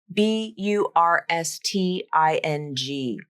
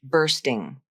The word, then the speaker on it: bursting: or bursting it's spelled b Ur s t i n g but the UR portion is pronounced as R not or here's the IPA of the word bursting let's practice the first